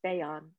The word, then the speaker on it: Bayan: it's very long but my first name is bayan if you think of it as bae and on that'll get you there so really what i